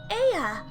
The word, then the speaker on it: Ea: When the vibration of vocal folds was still required to convey our thoughts and intentions, Ea, I believe, was the pronunciation used when referring to our people.